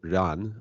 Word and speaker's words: Ruan: parallel Finance uh yubo Ron uh yubo is am I pronouncing your last name correctly uh yeah sure it's Ron but Ron okay yubo run uh yubo has a